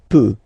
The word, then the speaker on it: peut: Then il, elle peut. So you will put T at the end, you don't pronounce it. Il peut, elle peut.